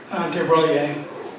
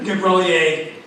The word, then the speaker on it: de Broglie: doesn't much matter, but I know how to pronounce his name in Italian. I'm not completely sure in French, so I'm going to pronounce it in Italian, de Broglie.